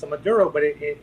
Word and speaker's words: Maduro: Uh it's a Dero Daro Madur It's a Maduro but it it it's spelled with the M A D U R D O R O anyway.